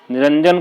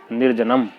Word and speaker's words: निरंजन: ये शब्द है निरंजन। इसमें रा के ऊपर जो अनुस्वार बिंदी लगी हुई है, यदि हम उसे अंत में ना के ऊपर लगा दें तो निरंजन का उच्चारण होगा निर्जनम।